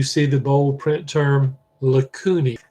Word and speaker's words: lacunae: Paragraph, after you see chondroblasts and chondrocytes, and you see the bold print term lacunae. AE in Latin is pronounced as just an E, but it's a little cavity.